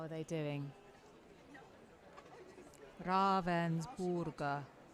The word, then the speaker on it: Ravensburger: how are they doing raaven borer okay I must remember that how you say it not Ravensburger I'm so sorry hello